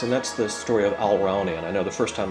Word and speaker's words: Alraune: And that's the story of Alraune. I know the first time I told you this uh I ought to spell it because it's hard to figure out my pronunciation.